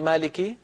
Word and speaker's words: مالك: الرحيم مالك يوم الدين مره ثانيه قولي مالك مالك يوم الدين ام ام